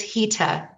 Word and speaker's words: Hita: It's HITA. Hita. It's Thanks so not much. the way it's spelled.